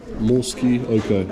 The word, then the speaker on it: Morskie Oko: Morskie Oko, yeah, that's how you say it.